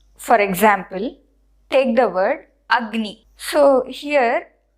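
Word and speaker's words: अग्नि: the way you pronounce agni you you will be telling you'll be putting more stress on g you pronounce it as if it is written like this with a double graph but we write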